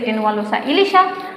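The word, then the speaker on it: Tenualosa ilisha: ইলিশ হচ্ছে টেনুয়ালোসা ইলিশা।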